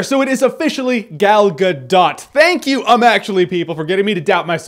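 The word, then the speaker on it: Gal Gadot: There is a T there. So, it is officially Galgadot.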